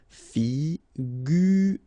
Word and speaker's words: figurer: Okay, so here you get this G and U together without any vowel after, so you will pronounce this combination gu, sorry. Figurer.